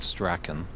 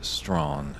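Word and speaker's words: Strachan: years ago and it looks like you would pronounce it Sten yeah just the way it's spelled but in fact it is strong and that is from Mr Dave henden I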